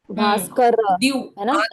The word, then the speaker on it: भास्कर: र का उच्चारण पूर्ण भास्कर का उच्चारण भास्कर दति भास्कर दति